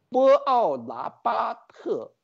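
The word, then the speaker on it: Buonaparte: 篡位者，波奥拿巴特，这个发音是意大利的发音。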